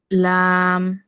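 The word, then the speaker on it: لام: শুরু করে ছেদন দাঁত এই এই পাশটুকুতে হচ্ছে আমাদের লাম লাম হুম উচ্চারণ করতে হবে লাম লাম আল ইল উল লাম এই হচ্ছে লাম যেবার আগার কিনারা সামনের উপরে দাঁতের গোড়ার সঙ্গে লাগাইয়া উচ্চারিত হয় লাম আপু আমাদের কর্তন দাঁত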